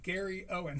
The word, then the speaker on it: Gary Owen: is Gary Owen um Gary Owen spelled like it sounds and Uh yeah, and